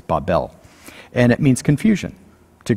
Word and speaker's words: Babel: this many times in the hebrews it's actually pronounced babel in the english we say babel but it's babel and it means confusion to confuse but the